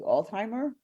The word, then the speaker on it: Altheimer: that's very important Al how do I pronounce your last name correctly Alzheimer oh you said it right alimer yes ma'am